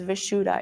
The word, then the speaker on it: Vishuddha: You pronounce this chakra as Vishuddha in Sanskrit.